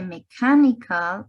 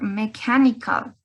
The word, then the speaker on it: mechanical: Sí, este CH va a sonar igual que mechanical, como una C o como una K, algo muy seco, ¿no? Ese CH no suena como ch, sino como k, ¿no? Chemistry or mechanical.